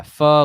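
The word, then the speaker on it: phở: Yeah, pho, like you like stub your foot and you're like pho. It's kind of like that. It's not O. It doesn't have the long O.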